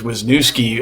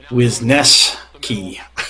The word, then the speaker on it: Wisneski: Whitewater mentioned that uh Ryan which I thought was wisnoski actually pronounces his name wisneski so it's Ryan wisneski if he if he's